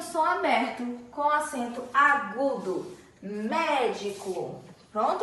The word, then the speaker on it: médico: fechado acento circunflexo e por último médico o médico a sílaba tônica é mé e tenho só aberto com acento agudo médico pronto e agora em